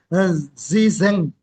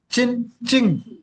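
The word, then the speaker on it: Zhizheng: that's called as a pronunciation is not the zen zen is no not this pronunciation chinqing chinqing is the right pronunciation for the SI7 chinqing.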